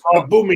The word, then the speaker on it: Aubameyang: It is Aubameyang. I'll leave it out. Aubameyang. I don't know any of the Sky Sports presenters call him Aubameyang or Aubameyang.